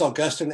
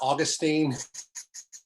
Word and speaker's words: Augustine: and by the way it is augustine and not augustine every time a media commentator refers to augustine's augustine because that's not really how you pronounce his name but um blind then